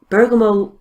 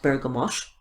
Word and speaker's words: bergamot: and the ylang ylang Bergamo by the way can also be pronounced bergamot there's no actually right or wrong way I just ephemeral so